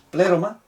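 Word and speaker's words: πλήρωμα: Aquí dice, porque en él habita toda la la pleroma, tiene acento en la aquí, pleroma, theotetos, la plenitud de, esto es un genitivo, un artículo genitivo, de la esencia y naturaleza divina.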